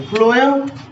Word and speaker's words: phloem: चलिए फ्लोएम थोड़ा बहुत सुनने से ये प्रोनाउंसिएशन में फ आता है, ठीक है।